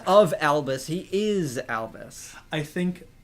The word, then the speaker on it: Albus: Well, it's Albus. Albus as in, like, white. But they just spell it weird.